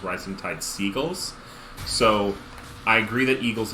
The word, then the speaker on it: Rising Tide Seagles: wins so uh flashpoint i've been told that the actual pronunciation for rhizotide s eagles is rising tide seagulls so i agree that